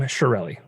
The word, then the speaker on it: Chiarelli: Yeah, my family says Chiarelli, but that's not the correct pronunciation in Sicilian for sure. Chiarelli.